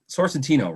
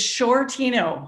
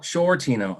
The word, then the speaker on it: Sciortino: uh do i say this right it's sorcy sorcentino right close it's shortino shortino i guessed wrong on that c okay it